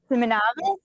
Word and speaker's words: Simonavice: We are here with Erica Simonavice.